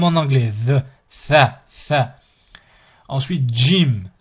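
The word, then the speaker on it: جيم: Ensuite, Jim, Jim, Jim, comme Jamila, Jamila. D, J, I, M.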